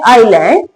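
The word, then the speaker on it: island: कि जब आई और एल के बीच में एस आए तो एस साइलेंट रहता है। जैसे कि लिखा है आइलैंड आई।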